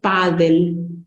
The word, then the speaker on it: pádel: la Real Academia Española adaptamos esto y decimos pádel sí le tenemos que colocar tilde es una palabra grave que termina en L por lo tanto debe llevar tilde y su pronunciación fíjense